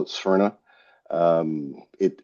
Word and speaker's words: Sphyrna: company, he decided that he would call it Sperna. Um, it it's great. It's a nice identifiable term. The number one question we get asked isn't what is it, it's how do you pronounce that? Sphere. Sperna.